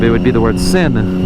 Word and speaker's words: sin: would be the word sin. But in Spanish, the E is pronounced, or sorry, the I is pronounced E. So sin is without.